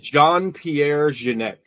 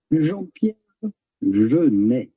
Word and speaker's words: Jean-Pierre Jeunet: Jean-Pierre Jeunet.